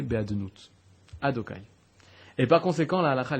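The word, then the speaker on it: Adonai: Lorsque tu vois un Yud à côté d'un He, à côté d'un Vav, à côté d'un He, Yudke Vavke, la façon de le prononcer, c'est Adokai.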